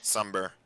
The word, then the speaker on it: Sumber: Sumber. It's like summer, but with a B.